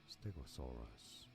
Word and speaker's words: stegosaurus: Stress on the third syllable. Stegosaurus.